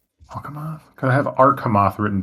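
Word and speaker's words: Alcamoth: uh Al alamoth is that right did I spell that right yeah it's it's alamoth alamoth can I have arth written down here too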